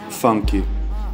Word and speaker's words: funk: It's called funk, or pronounced funky in Brazilian Portuguese.